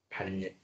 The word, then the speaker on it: 반례: 반례. 이제 어 수학 용어 중에 참 발음하기 힘드니다. 반례. 급할 때 그냥 선 반래 발래 막 그렇게 할 수도 있어.